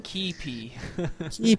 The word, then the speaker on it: Keype: Or how did you pronounce his name? Keype.